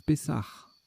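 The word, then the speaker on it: pessah: Pessa, ça se prononce Pessar, d'accord.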